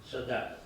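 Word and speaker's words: saudade: The word is spelled s a u d a d e and it's pronounced sad.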